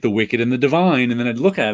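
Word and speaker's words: The Wicked + The Divine: it that way but it's actually the wicked plus the divine gotcha i was like that's weird because i always found myself calling it the wicked and the divine and then i'd look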